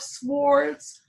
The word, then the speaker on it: Swords: So we have the King of Swords. And I love saying that silent W out loud. If it's supposed to be silent, don't put it in there.